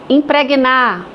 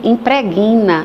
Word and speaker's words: impregna: Então impregnar. Ai esse perfume impregna não. Impregna.